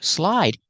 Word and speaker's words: slide: So slide, you have the long I, like I slide.